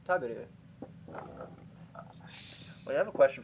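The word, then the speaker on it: 食べる: Like they'll say taberu instead of taberu.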